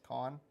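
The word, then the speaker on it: Cannes: Like the French would be C-A-N-N-E-S, cans, con.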